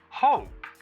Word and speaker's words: hope: Well, hope. That's an O sound.